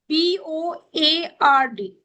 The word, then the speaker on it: cupboard: CUPBOARD. Cupboard. Yes. Cupboard. Cupboard. Cupboard. Yes, cupboard. P is silent.